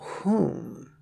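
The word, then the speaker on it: hum: The final syllable, whom, rhymes with the pronoun whom, which serves to release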